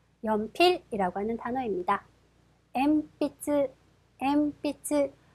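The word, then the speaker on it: 鉛筆: 더 연필이라고 하는 단어입니다 엠비츠 엠비츠 파행 앞이기 때문에 미음 발음이 돼서 엠빛 미음이 되죠 자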